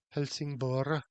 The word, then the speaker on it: Helsingborg: She's leaving Helsingborg or Helsingborg, as I think it's more correctly pronounced, tomorrow.